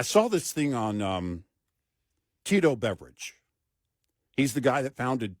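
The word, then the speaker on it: Beveridge: this thing on Tito Beverage. He's the guy that founded Tito's Vodka. Oh, yeah, in Texas here, right? Yeah. And, yes, his last name is Beverage, spelt differently, but pronounced the same.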